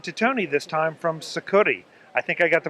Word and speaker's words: Sucuri: do you did well it's it's suuri it's a Portuguese for Amazonian Anaconda but uh suuri works just fine as